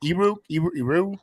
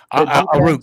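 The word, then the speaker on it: Aiyuk: Eru? Yeah. Unruh or something. Debo, Kittle, who's like arguably one of the best tight ends in the league. Yes. Williams. Aru, thank you.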